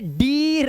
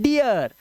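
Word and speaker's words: dear: इसीलिए अब इसे डीर नहीं पढ़ते। इसे पढ़ते हैं डियर।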